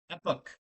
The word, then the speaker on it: epoch: The biggest problem here is we going to have to as a society are going to have to learn how to pronounce the word epoch. Epic. Epic. Say it with me, everybody.